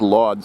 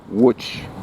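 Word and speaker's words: Łódź: it's it's something like which because the L is not actually in a let's the Polish L with a line through it which which is pronounced more like a W so if the cities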